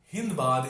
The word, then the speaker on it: Sindbad: Because it's very likely that Sindbad is pronounced Hindbad in that part of the world. The same way that the land of Sindhu became the land of Hindu.